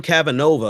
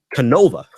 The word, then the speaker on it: Canova: And that's by virtue of Debbie Wasserman Schultz, which reminds me, Tim Cavanova, I believe is how you pronounce his last name.